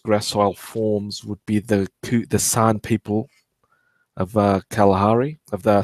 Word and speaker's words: San: So the San, S-A-N, carp merchant, the ones that click when they talk, those ones. The gods must be crazy movie. The San, that's how you sort of pronounce their people.